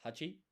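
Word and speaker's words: 八: Uh by the way, eight, there's only one one way to say this in Japanese and it's hachi.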